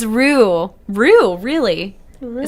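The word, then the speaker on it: Roh: Oh, it's Roo. Roo, really? Roo. So it's spelled R-O-H. Yeah. So Roo. I probably would have said row, too.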